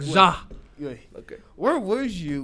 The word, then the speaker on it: Ja: Ja. You got to say it like Ja.